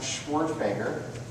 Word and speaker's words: Schwerdtfeger: who might be curious my last name is pronounced schwartzbager schwartzmaker so i live in california so i